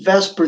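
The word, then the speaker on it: VSEPR: this is about is vesper theory and how to use it okay so it's spelled funny that's b s e per theory all right you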